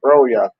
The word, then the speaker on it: Broja: You pronounce it Broya.